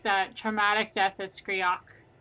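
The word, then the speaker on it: Skreak: So I am doing average, and it's Skriok.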